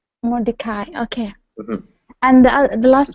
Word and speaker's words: Mordecai: Remember that name with the M is Mordecai. I is how it ends. Mordecai.